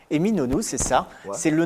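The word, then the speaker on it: Eminönü: Comment on prononce? Eminonu, c'est ça.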